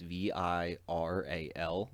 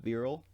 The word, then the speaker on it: virile: like his if it's i spell it as v-i-r-a-l like viral but it's being pronounced virile um and lord genome